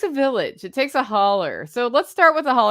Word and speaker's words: holler: it the hauler because it's a steep ravine which is a hollow and it's pronounced holler locally and if you look